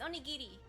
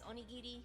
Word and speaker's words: onigiri: over here like onigiri it's onigiri if you say it like the Japanese vowels it's onigiri kendigiri um uh ours have a more of a mix between an l and an R sound so it's not ear